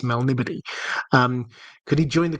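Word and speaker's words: Melniboné: many years ago, I I pronounced it in my head as Melnibone. Uh which it may be, but I've I've been told um Oh, sure. Since then it was it's Melnibody.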